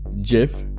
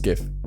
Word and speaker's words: GIF: accord number two gif the creator said is pronounced jiff but who really cares what he thinks even our dictionary set is pronounced gif gif and number one of